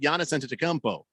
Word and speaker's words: Giannis Antetokounmpo: No, I said Giannis Antetokounmpo, and I said it right, damn you.